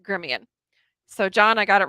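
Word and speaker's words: Gremillion: pronounce it but it's spelled gremlin but it's pronounced gremion so john i got it right this time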